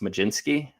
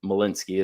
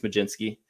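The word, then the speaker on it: Mlodzinski: I think it's supposed to be pronounced Majinski. The DZ uh, normally makes like a J sound, but I hear a lot of guys call him Molinsky as well, but I think it's Majinsky.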